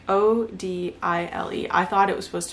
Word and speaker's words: Odile: explained it in the book I think it's odile like o d i l e I thought it was supposed to be pronounced oddly but her name's odile anyways it's about those